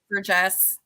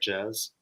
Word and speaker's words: Jess: Did you have an inspiration, Con, for Jess or Jez? It's Jess. The audiobook narrator did pronounce it more like Jazz. Yeah, with the Z, yeah.